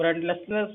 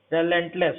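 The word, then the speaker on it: relentless: रेंटलेसनेस मतलब आपका ये हुआ दयाहीन। रेलेंटलेस होता है, रेलेंटलेस, सॉरी प्रोनाउंसिएशन में दिक्कत हो गई, दयाहीन।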